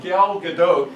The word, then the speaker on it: Gal Gadot: deep fakes and they took the face of gal gadot I know that's how you say her name